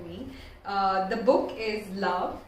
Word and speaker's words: LVOE: quick read for me uh the book is love it's by Atticus that's how it looks it's